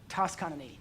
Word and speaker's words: Toscanini: It is said that after a rousing performance of Beethoven's Ninth Symphony, that a famous Italian conductor, Arturo Toscanini, that's how you say it, Toscanini.